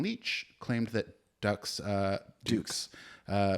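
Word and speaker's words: Dux: film centers on Frank Dukes uh often mispronounced as Ducks uh played by Van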